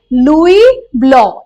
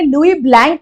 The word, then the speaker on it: Louis Blanc: Okay, अब next है हमारे लुई ब्लॉक. ठीक है, याद कराने के लिए मैंने लुई ब्लैंक बोला था because his face is looking little ब्लैंक. ठीक है, लेकिन इसका करेक्ट प्रोनाउंसिएशन है लुई ब्लॉक.